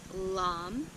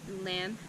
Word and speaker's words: LAM: The Sanskrit mantra here is LAM, or LAM, L-A-M.